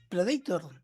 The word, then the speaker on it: Predator: Se dice Predator porque está en inglés. Predator. Claro, pero no, suena horrible, es una no- banda de heavy metal. No entré nunca. No Eh, entré. Predator.